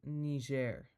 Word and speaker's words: Niger: This country is pronounced Niger.